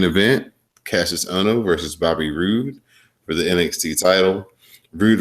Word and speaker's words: Roode: You know how he would announce it as Bobby Roode. That's how he did it back in the day. Yeah. Roode.